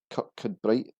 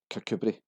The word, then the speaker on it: Kirkcudbright: Its name suggests Kirkcudbright is an obvious pronunciation. Locals actually pronounce this as Kirkcudbright.